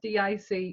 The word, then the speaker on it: DiC: and i laughed when when i found out who did it because i don't i think it's pronounced d.i.c entertainers not dick entertainers that's going to the